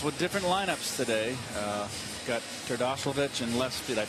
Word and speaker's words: Terdoslavich: Got Terdoslavich in left field. Did I pronounce that right?